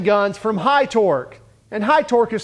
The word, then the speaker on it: Hytorc: are the lion guns from high torque and high torque is spelled h-y-t-o-r-c and lion guns not meaning in